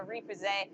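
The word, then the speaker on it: repoussé: Uh, Repose is translated rep pusher. Oh, the accent is on the second e. So, repose. That is ray p.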